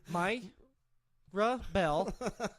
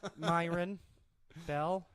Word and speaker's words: Myron Ebell: I can tell you're just like my rough bell Myron fell is how you say it he is hey Joe